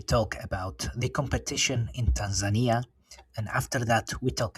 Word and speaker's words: Tanzania: one of the first or I should say Tanzania, right? The right way to to pronounce it.